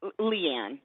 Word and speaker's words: Leanne: Leanne, how do you say your name? Leanne? Is it Leanne? Leanne. There's just no A on the end, but you're close enough.